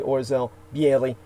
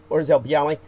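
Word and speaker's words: Orzeł Biały: It's known as the Orzel Bieli I know I'm not pronouncing that correctly. More like something like Orzel, like a real harsh Orzel Bialy, National Coat of Arms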